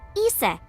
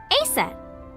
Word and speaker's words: Isis: Horus's mom is named Isis, but in ancient Egyptian, it's pronounced closer to Ise or Aset.